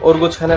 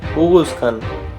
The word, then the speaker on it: Oghuz Khan: এবং ওরগুজ খানের আসল উচ্চারণ হবে উগুজ খান, তবে ভিডিও বোঝার সুবিধার্থে এখানে ওরগুজ খানই ব্যবহার করা হবে।